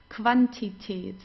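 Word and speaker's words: Quantität: vocabulary then we have whenever you have a Q and you together you pronounce it as like a K and W together like German W okay the so we don't say because many people say but it's not it's okay so like in English it's quality but we don't have this in in German okay it's qualitate qualitate and quantitate the quantitate the quantity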